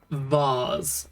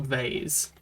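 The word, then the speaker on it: vase: a wonderful item and it's pronounced vars not vaes should be sold sell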